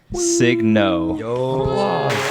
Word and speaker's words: Signo: very special guest Justin signno this is the right one for um sign no is how you pronounced your last name right sign to that's last night people always say Soo g is silent I had a lot